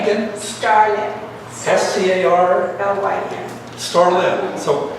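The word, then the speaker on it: Scarlyn: Starlin. So No, accent, first syllable.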